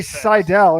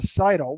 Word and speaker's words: Seidl: name it's not like if i say seidel instead of seidl which every she was